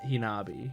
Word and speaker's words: Hanabi: So there's Hinata and Hanabi. Or I should say Hinata and Hinabi, because that's how they're pronouncing it in.